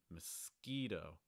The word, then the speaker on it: mosquito: monkey our next word mosquito mosquito if there's only one syllable you want to get right here it's that middle one with the long i sound the e muskie mosquito you also want